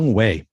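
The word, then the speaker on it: Younghoe: We just call him Koo. So it's Young-Ho. Yeah. You called him a Good ho. to know. I called him a Young-Ho.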